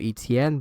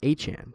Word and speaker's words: Etienne: I always call him Etienne, but I think when he signed with the Saints, he had an introductory press conference and said that his name is actually pronounced Etienne, similar to Devon Achane, but yeah, I mean,